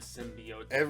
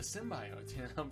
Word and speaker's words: symbiote: whatever backstory of the symbiote wasn't that funny how from the original trailer where what's her name mispronounced it as symbio they totally they did